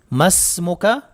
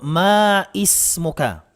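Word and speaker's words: ما اسمك: Kadalasan ay meron pong mga estudyante na nagkakamali po dito, sinasabing maismuka. Maismuka, ano ang iyong pangalan? Maismuka ay mali po ang pagbigkas natin sa tanong na iyon o pagsabi. Ang tama po ay masmuka kung lalaki.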